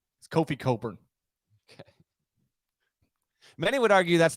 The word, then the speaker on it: Cockburn: their name is Kofi Coburn. Okay. Many would argue that's the one person who should not get to decide. But yes, his name's Cockburn. His name is Cockburn.